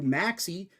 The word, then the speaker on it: Maxey: That's Maxey with an X. X, kind of like in his username, Drew X Deficit, but the X is silent in Drew X Deficit, so it's pronounced Drew Deficit, but it's not pronounced Drew May, because the X is pronounced in Maxey.